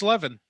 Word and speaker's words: Levin: Are you going to mispronounce Levin or Levine, or are we going to just let him see if he wants to correct you? I thought it was Levin. It is Levin. You kept saying Levine, like it was Avril Lavigne or Adam Levine